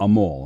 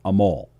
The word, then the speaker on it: Amal: that's true yeah yeah a mole a mall a mole that's how you say her name a mole i like them all